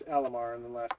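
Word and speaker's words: Alimar: Welsh word I have no idea how to pronounce it so Terrell terrellland Tara nilt Tara Nell thank you thank you um Ella Mars it's Alamar and then last name is Stone more LMR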